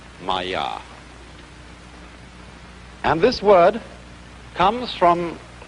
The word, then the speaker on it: māyā: I'm going to write that down for you pronounced Maya and this word comes from a root in